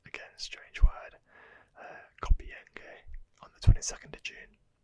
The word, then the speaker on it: Compiègne: The French surrender was ratified in the armistice agreement signed at Compiègne, I believe it's pronounced, again, strange word, Compiègne, on the 22nd of June.